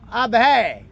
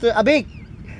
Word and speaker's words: Abhay: Really, I spoke first abhay, and his mother told me not abhay. Ab hai. I should not pronounce wrong name.